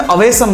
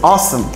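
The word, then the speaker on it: awesome: Spelling में अवेसम लिखते हैं बट the pronunciation is ऑसम।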